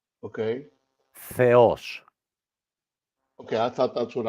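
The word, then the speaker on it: Θεός: read it for me Theos right only one small mistake uh the emphasis okay Theos no now you chck Theos the emphasis is on the O Okay Theos okay I thought that's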